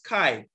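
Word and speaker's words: chi: the Greek alphabet K some pronounce it as Kai he and it looks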